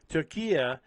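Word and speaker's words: Türkiye: But this is what Turkey did, Turkey, to say it correctly. Turkey, I was fully aware of this.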